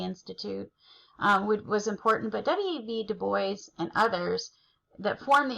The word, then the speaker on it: Du Bois: Du Bois, no joke, his last name is pronounced Du Bois.